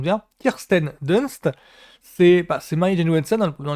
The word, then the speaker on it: Kirsten Dunst: kend Kirsten DST C je crois que je prononce bien Kirsten Dunst c'est c'est Mary JSON dans les premiers Spiderman